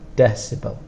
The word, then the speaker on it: decibel: it and for pronunciation the strongest sound is on the first one decibel millibar millibar so this